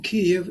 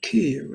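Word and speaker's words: Kyiv: kiev and that said the more commonly used in english pronunciation kiev is russian so i will use the word kier and the pronunciation just for the reference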